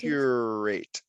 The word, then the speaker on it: curate: You want to slow down with the R. Yes. Curate.